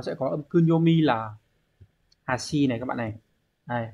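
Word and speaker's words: 端: Thì ôn một chút biết đâu người ta sẽ hỏi cái chữ này này, nó sẽ có âm kunyomi là hashi này các bạn này.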